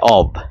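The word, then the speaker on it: of: এই জন্যই এখানকার মধ্যে আমাদের অফটা হয়েছে, এই জন্যই আমাদের আর এর পরে অফটা হয়েছে, অব। হ্যাঁ, এটার সঠিক উচ্চারণ হচ্ছে অব, নট অফ। এখানে কিন্তু এটা এই যে ও এফ, এটা কিন্তু অব।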